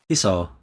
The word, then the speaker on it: Hisao: How did you pronounce it? Hiso.